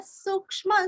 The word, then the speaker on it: सूक्ष्म: सूक्ष्म सुदीर्घ, क्ष्म क्ष्म का उच्चारण भी अच्छे से करना है और आधा स, सूक्ष्म।